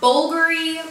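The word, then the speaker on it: Bvlgari: the apparently it's pronounced Bulgari but I don't see how because that's a v not a u but whatever it is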